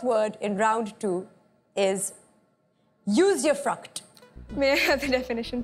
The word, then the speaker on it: usufruct: Usufruct. Am I pronouncing it correctly?